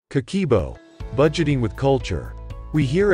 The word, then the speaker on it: Kakeibo: year old tradition of budget planning they call kikibo pronounced kakebo interpreted it means household financial ledger keep watching